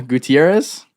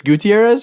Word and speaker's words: Gutierrez: Welcome, Carina Gutierrez. Yes. It's not it's Gutierrez or Gutierrez?